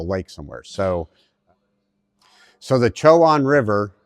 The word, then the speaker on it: Chowan: event I think I'm saying it right the choan river according to the locals that's how you pronounce it the choan river in North Carolina it's really exciting doing